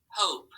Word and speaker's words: hope: when it's long okay so let's tap this ready it would be oh hope right remember that so that's called our vowel consonant e okay and you might